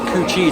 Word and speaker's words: Cu Chi: arrived at the tunnels it turns out they are pronounced coochi tunnels uh some people would